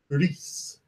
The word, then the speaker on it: Gris: Which apparently you're supposed to pronounce Gris.